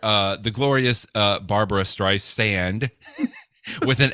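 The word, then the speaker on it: Streisand: but apparently it she insists that it is stri sand as in the sand on a beach right and not a z as in stri zand but apparently she Who Shall Not Be Named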